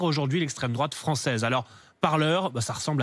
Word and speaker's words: Parler: ce que vous dites ça s'écrit comme le verbe parler mais ça se prononce par leur car ce réseau social